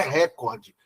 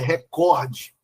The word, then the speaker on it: recorde: Por exemplo, essa que tá em vermelho aí, a pronúncia dela é não é recorde, é recorde.